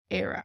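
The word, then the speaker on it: Éire: would use this form of Ireland which is era now another word for Ireland in Irish is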